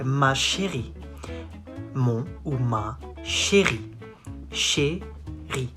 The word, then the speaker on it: chérie: Mon ou ma chérie. Chérie. Not chez, chérie. Chérie. Ri.